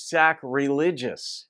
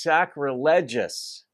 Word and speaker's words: sacrilegious: pronounce this word as sac religious and i've even seen it written that way it's not though because this is the adjectival form of the word sacrilege s-a-c-r-i-l-e-g-e so it's sacrilegious not sacrilegious i'll even